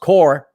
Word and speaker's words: Corps: about attending job corps and it's spelled corpse pronounced core uh but you spelled it core as an